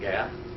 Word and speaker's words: Gad: Gad.